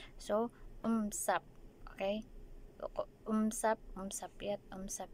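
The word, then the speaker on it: 五十: Pero ang pronunciation po nun is it's the same lang po. Ganun parang M. So, umsap.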